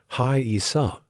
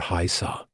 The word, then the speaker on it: Haisa: and new arriving Indians called Haisa, pronounced Hai-Isa or Haisa.